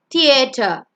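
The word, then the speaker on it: theatre: It's not theater, it's theater.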